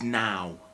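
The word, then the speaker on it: naw: Number 9 is now, as in right now, yeah?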